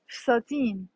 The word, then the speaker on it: فساتين: جمع فستان فساتين، جمع فستان فساتين، it's two syllables، two syllables.